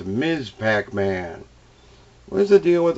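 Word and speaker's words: Ms. Pac-Man: one of my favorites miss pac-man i always say it wrong it's ms pac-man what is the deal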